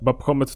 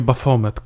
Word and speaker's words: Baphomet: pojawia się to baphometa babko metr to postać czyta się bafomet jestem